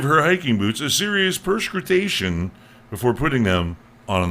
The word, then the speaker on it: perscrutation: It's perscrutation. Perscrutation. Almost sounds like something perspiring. And it says, phonetically, it says perscrutation. It is the word from French.